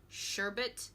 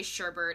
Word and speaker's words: sherbet: but yeah I guess people add the extra R in there which is what I've been guilty of doing forever and even now even though I know that the correct way to say it is sherbet so rainbow sherbet sherbet